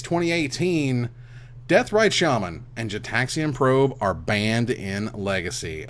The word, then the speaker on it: Gitaxian: It's a It's a hard G Gitaxian.